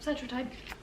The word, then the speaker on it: Cetrotide: Yep, Cetrotide.